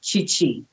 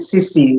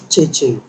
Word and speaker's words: Cicci: So, a lot of Yeah. people pronounce it Sisi. Meanwhile, it's supposed to Yeah. be Chichi. Cheche. With the accent of the H in it.